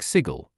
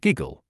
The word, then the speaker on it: Sigil: burfoot it's pronounced like sigle rhymes with Giggle and woi the Burke